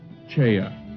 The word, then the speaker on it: Choi: His name is spelled as Choi in English, but pronounced Cheya in Korean.